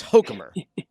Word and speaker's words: Hochkammer: It's and it's Hochkammer, right? Do we have that right? That's right. That's how my dad pronounces it.